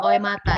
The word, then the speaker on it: Oematan: Itu langsung dibaca seperti itu, lurus ya Ibu, Oematan.